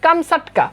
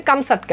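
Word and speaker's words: Камчатка: না মূল উচ্চারণ হচ্ছে কামসাটকা ওকে প্রকৃত উচ্চারণ হচ্ছে কামসাটকা এখন কামসাটকা কি কামসাটকা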